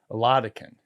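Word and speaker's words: Oladokun: Oladukin. Right. We can't even pronounce it. Well, Oladukin, yeah. Oladikin? Oladikin.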